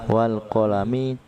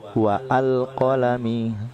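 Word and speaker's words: والقلم: Dibaca langsung wal qalami, tidak boleh dibaca wa al qalami. Kenapa? Ada waw sebelum hamzah.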